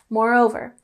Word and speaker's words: moreover: So next we have moreover, and we have the primary emphasis on the second syllable, moreover.